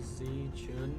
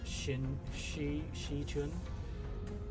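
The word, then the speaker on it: Xichun: With the X like Z Chun, I pronounce like Shi Chun. I thought it's pronounced like with a Z.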